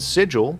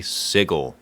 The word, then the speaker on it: Sigil: How do you pronounce this word? If you said sigil, you'd get laughed at and cut into pieces in my favorite city, Siggle, the heart of Plscape.